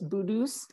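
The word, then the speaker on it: putu's: bedus um and and it's spelled like a p with peter like a p from peter p u t u apostrophe s but it it sounds like a hard b sound so it's budus and that means that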